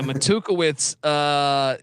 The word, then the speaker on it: Matukewicz: So Tom Matt, how do I pronounce this game? His name Matukewicz. Yeah, Matukewicz is entering year 10, 51-52 all time with Southeast Missouri State, and they have some talent on this team.